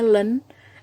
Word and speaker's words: ln: ln kita bacanya len, LEN gitu ya, len adalah logaritma natural.